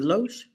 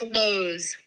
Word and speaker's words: Loesch: Is it Loesch? It's Lowe's. Lowe's. Lowe's. It almost like Lowes, but it's Like the- obviously spelled correctly. Like the store.